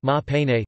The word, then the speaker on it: Maha Peinne: In the Burmese language, Ganesha is known as Maha Pain, pronounced Ma Pene, derived from Pali Maha Winayaka.